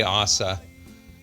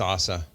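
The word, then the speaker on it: עזה: did you they say Assa so in in Hebrew it's not Gaza it's Assa sorry for the mispronunciation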